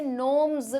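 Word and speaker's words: gnomes: pronunciation भी बताना तो इसमें बेटा जी साइलेंट है ये नॉर्म्स करके होगा जी देखते हो आप कभी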